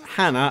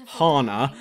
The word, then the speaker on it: Hannah: my favourite, and no, I'm pronouncing her name as Hannah and not Hana, because piss off if you're going to pronounce it like that.